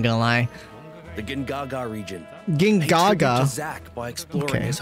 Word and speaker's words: Gongaga: Gingaga. Zack by exploring okay. His hometown. Wait, it's not Gongaga. It's Gingaga. This whole time I've been pronouncing it wrong.